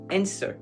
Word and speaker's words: answer: Ici, vous en avez le W, on le prononce pas. Donc on va pas dire, mais on va dire answer.